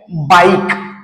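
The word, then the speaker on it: bike: तर पहा या ठिकाणी बाईक तर आपण याठिकाणी बाईक हा शब्द जर वाचन केला तर बाईकच हे जे लेटर आहे ते सायलेंट होताना दिसत आहे आपलला त्याच्यानंतर पुढच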